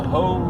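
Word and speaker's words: Hoh: I'm going to the Hoe rainforest, and we'll see what we find there. It's spelled H-O-H, I believe.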